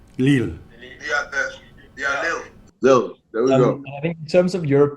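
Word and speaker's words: Lille: suffered this defeat recently too how do you pronounce it lil leel there we go i think in terms of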